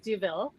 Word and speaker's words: Douville: words oh sure so my name is pronounced duville deville and i'm ceo of